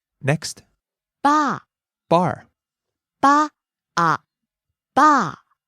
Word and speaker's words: バー: Next, バー、 bar, バー、バー、 falling on the second syllable.